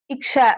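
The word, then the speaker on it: क्ष: For example இக்கு plus ஷ, இக்ஷ அப்படிங்கிற மாதிரி வரும்.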